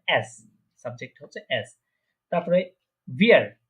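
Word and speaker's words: wir: তারপরে ভিয়ার, এটা কি উইয়ার না, এটা হচ্ছে ভিয়ার, ভিয়ার, ভিয়ার প্রনাউন্সিয়েশন করা ভিয়ার। হ্যাঁ, ওই যে নিচের ঠোঁটের সাথে মাঝখানে উপরে যে দাঁতগুলো আছে ওটা লাগিয়ে নিচের ঠোঁট একটু নিচের দিকে গোল করতে হবে, ভিয়ার।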